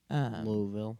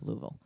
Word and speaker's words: Louisville: Louisville. Louisville. I'm gonna try my hardest to say it correctly. It's not Louisville. Uh-huh. It's Louisville.